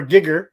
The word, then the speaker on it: Geiger: Geiger, baby. Geiger. Or Gigger, as they pronounce it in the UK, apparently.